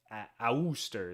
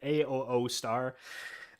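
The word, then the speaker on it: Asustor: Um I've got my own NAS which is like a company a Auster is what I how I pronounce it. A O star.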